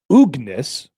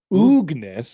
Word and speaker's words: Oogness: And it says Oogness. There's an extra O in there. Oogness. Oogie is short for Oogness.